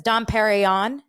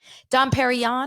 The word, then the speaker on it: Dom Perignon: you have 2003 and she doesn't even say it right right she doesn't say Don Perignon she says Don perion Dom Perignon do you have 2003